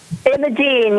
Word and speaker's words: Imogen: Am I pronouncing that correctly? Imogen, yes.